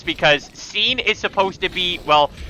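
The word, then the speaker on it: Sein: Like, for instance, I've been referring to our floating companion as Scene, but I have heard pronunciations of, like, Sign, which, actually, it is what I did used to call them a lot, until, you know, BJ pointed out why calling them Scene makes more sense, because Scene is supposed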